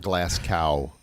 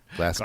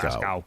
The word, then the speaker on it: Glasgow: And when you're down closer to Glasgow, which sounds like Glasgow, but it's spelled with the G. Not Glass Cow. Glasgow. Glasgow. Gow.